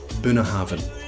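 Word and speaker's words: Bunnahabhain: frost CH and drop the second one Bruichladdich buna havin the bh and binner happiness made to sound like a soft v so it becomes burner Haven if you say been a haven nobody's gonna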